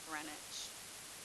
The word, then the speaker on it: Greenwich: runs through Greenwich England it's spelled green witch but you pronounce it grenwich okay and a lot